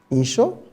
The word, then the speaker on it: N'Cho: Moi, je préfère dire Insho. Voilà, nous avons apprécié la prononciation.